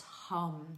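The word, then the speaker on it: हं: Um the chant the seed mantra or the ba mantra is ham h but pronounced hum when you when you chant.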